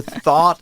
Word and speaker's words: though: I had never thought of that.